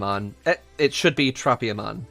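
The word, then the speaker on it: Tropiamon: guy so turopium on uh it should be tropium on like it should not be terropium on its tropia not toropia but in japanese you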